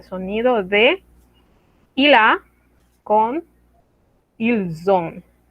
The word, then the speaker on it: ils ont: de il a con ils ont. Mismo caso, liaison. La S que no se pronunciaba, ahora se pronuncia. Pero no es una S, es una Z. Ils ont, elles ont.